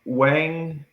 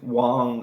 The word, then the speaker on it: Wang: So, um Wang I'm going to butcher. Yeah, the names are tough. Yeah. or I think it's Wong I think is how they pronounce it.